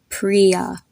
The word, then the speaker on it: Priya: i y a the I here makes the same sound if you would have a double e there Priya another example is the